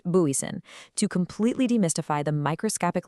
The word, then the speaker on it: Booysen: That's pronounced Booysen.